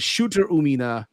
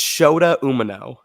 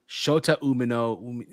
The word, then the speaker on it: Shota Umino: It was between Moxley, Claudio, and Shooter Umina versus Tanahashi. How do you pronounce it? How do you pronounce it? Hold on, no. How do you pronounce it, Kaden? Yeah. It's Shota Umino. Shota Umino.